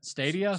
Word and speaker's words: Stadia: That's how it's pronounced. Stadia.